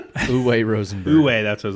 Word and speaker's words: Uwe: still by the same creator, whose name is unpronounceable. Uwe Rosenberg. Uwe, that's what I was saying. Uwe.